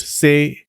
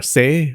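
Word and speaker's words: 精: In Japanese, they're pronounced sei, ki, and shin.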